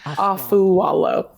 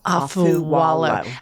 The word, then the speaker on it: Afualo: on it's all right it's aalo AFU Walo AFU wo okay you call out